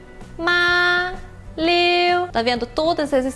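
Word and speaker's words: 妈: É bem alto e contínuo.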